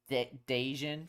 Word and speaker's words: Dejan: By the way, it's so difficult for me to tell people how to pronounce my name, but it's Dejan. Like Jaden, Dejian.